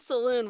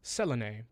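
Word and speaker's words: Selûne: Technically, it's pronounced Selene, but I'm not doing that.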